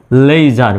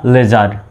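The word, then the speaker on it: leisure: সুতরাং এখানেও এসের উচ্চারণ কিসের মতো হবে, জ্বর মতো হবে, LEI লে, SURE জার, লেইজার বা লেজার।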